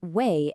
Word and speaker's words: W: The letter W is Way, and it makes a V sound, like in Volca.